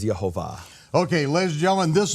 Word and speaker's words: Jehovah: name of the father according to its true pronunciation is jehovah okay ladies and gentlemen